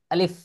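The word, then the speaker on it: ألف: কি আলিফ বা এরকম পড়তাম কিন্তু আসলে সহি উচ্চারণ কি হবে আলিফ আলিফ আলিফ খুব দ্রুতভাবে উচ্চারণ করতে হয় আচ্ছা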